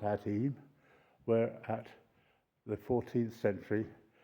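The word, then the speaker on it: Eyam: Um and there is a village near here called Em is spelled E Y A M.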